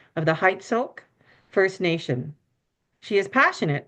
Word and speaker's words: Heiltsuk: So Heiltsuk First Nation is really hard to pronounce, and the anglicized version of it is Heiltsuk.